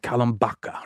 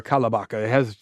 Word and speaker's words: Kalambaka: The robbery takes place in this town called Kalambaka, right? Or Kalabaka. You can pronounce it either way.